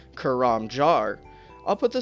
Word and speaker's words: Karamja: all these years we may have been pronouncing karamja wrong according to the post bag from the Hedge from October 30th 2008 karamja is actually pronounced kuram jar I'll put the spelling here on screen so